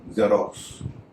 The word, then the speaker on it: Xerox: जैसा कि शुरू में बताया, एक्स जब शब्द के शुरू में होता है तो उसका उच्चारण ज होता है।